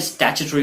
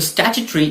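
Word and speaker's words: statutory: हैं, इन चीजों में स्टैट्यूटरी वार्निंग जरूर होती है। तो स्टैट्यूटरी इसका यूके प्रोनाउंसिएशन है, लेकिन यूएस प्रोनाउंसिएशन इसी वर्ड का होता है स्टैट्यूटोरी।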